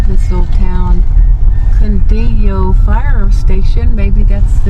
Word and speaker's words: Cundiyo: Cundiyo Fire Station.